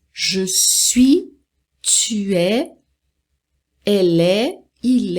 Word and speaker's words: je suis: Então, não pronuncia o S, não pronuncia o T. Então, je suis, je suis, je suis.